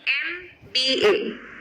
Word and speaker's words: MBA: It is beginning with M but the sound is E, MBA.